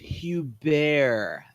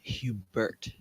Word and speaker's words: Hubert: ray Hubert it's you bear not Hubert we're sorry sir we didn't mean any disrespect zuzu and Beth not in unison so it's pronounced mr.